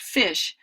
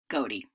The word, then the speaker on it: ghoti: So GHOTI really would not be pronounced fish, but rather goatee.